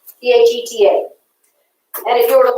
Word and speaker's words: theta: horizontal cross bond is a greek letter t that's pronounced theta okay dheta and if you were